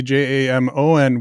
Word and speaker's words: Jamon: But I think my mom, from what I understand, my mom thought maybe Jamon would not be mispronounced as often because it looked a lot more like Jason.